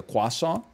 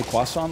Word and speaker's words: croissant: Why do you say croissant like that? Because that's how it's pronounced in Paris.